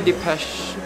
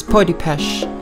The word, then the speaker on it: Peau de Pêche: Pure Depeche. Actually, it's pronounced Po. It's Peau de Pêche.